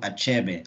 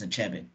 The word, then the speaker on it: Achebe: I guess is that it's not something where we hide letters so I know I I in my mind it's a cheby and Chapman is basically